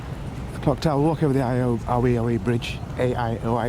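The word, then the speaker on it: Aioi: Clock tower, walk over the Aoi Bridge, A-I-O-I it's spelt, because I think that was actually the target.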